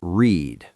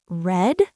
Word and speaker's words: read: Wait, red? It sounds like the color red? Exactly. Same word, different pronunciation.